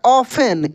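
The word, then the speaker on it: often: एफ टी ई एन ऑफेन इसको हम लोग ऑफ्टन नहीं पढ़ेंगे इसको हम लोग पढ़ेंगे ऑफेन खूब ध्यान से देखिए ऑफेन मीस होता है प्राय ठीक है टी साइलेंट रहता है इसको हम लोग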